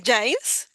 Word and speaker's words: Giles: Normalmente se pronuncia Giles, Eso. aunque se escribe fonéticamente como Hills.